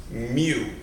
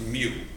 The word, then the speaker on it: mu: with a tail on each end and it's pronounced mu mu pronounced mu it's not an m it's a u with